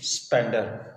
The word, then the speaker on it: Spender: but the real name of the bird is spender so unfortunately that mispronounced anyway let's come so yesterday our sorry